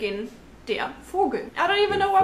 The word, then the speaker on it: Vogel: The V sound in German is actually pronounced as F. Like in der Vogel.